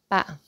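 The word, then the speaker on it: 八: And then B-A-T. ba, ba, ba. Okay, not bat, ba, ba. Okay, ba.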